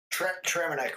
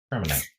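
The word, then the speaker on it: Traminette: It's Traminite grapes. Traminite.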